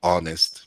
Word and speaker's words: honest: Acá nos hablan que cuando una palabra inicia con H muda, como honorable u honest, entonces se utiliza an, a pesar de que está iniciando con una consonante, como esa consonante no suena, la que está sonando es la vocal, entonces utilizo an, ¿cierto?